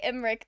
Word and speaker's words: Emmrich: They don't pronounce the second E, do they? Oh, most people who say Emerich do not.